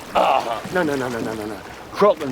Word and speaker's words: Kraken: I always heard it said “krayken.” RAGETTI: What, with a long A? PINTEL: Uh-huh. RAGETTI: No, no, no, no, no. “Krocken” is how it’s pronounced in the original Scandinavian. And “kracken” is closer to that.